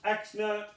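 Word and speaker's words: x₀: are given the following now this is pronounced x-nut and v-net that's the initial position and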